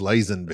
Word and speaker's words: Lazenby: Isn't that like Lazenby? I think it's Lazenby.